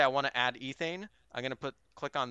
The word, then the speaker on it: ethane: So let's say I want to add ethane.